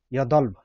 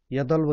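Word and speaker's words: 여덟: छ 8 हेर्नुहोस् त, यदल्भ, यदल्भ छ तर ब चाहिँ उच्चारण हुँदैन, यदल्भ, यदल हुन्छ है यदल।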